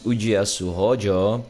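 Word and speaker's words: Ujiyasu Hōjō: Today we have number 23, which is Ujiyasu Hojo.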